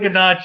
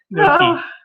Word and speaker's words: gnocchi: It's not ganache, it's gnocchi.